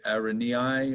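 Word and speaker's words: Araneae: or Benny I anyway I asked a spider biologist who was teaching at Lynchburg College his license plate had that word on it and I said well how do you say that word anyway and he said Aaron yeah so that's what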